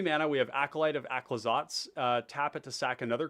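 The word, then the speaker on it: Aclazotz: So it's like Aclazots. Kind of like that.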